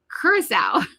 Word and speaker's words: Curaçao: And then speaking of like pronunciation, I never realized that you pronounce Curaçao Curaçao. Like it does not look that way, but I learned something